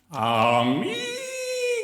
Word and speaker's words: Amiga: Amiga guys! Yeah, as it's supposed to be pronounced.